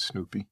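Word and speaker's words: Snupie: It's not spelled like the dog Snoopy. It's S-N-U-P-I-E, but I think that's how you pronounce it. Well, I pronounce it Snoopy.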